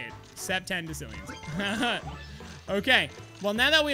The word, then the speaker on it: septendecillions: Interesting way of pronouncing it. All right, so that's how you say it. Septendecillions.